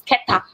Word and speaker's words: Keta: I remember saying in my video the last time, say this is Kita. And somebody like, no, this is Keta, or this is Kita,